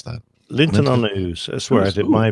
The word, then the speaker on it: Linton-on-Ouse: How do you pronounce that? Linton-on-Ouse.